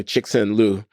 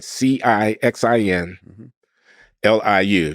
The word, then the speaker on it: Cixin Liu: So there's this Chinese writer, Cixin Liu is his name. I might not pronounce it exactly right. Cixin Liu, Cixin Liu.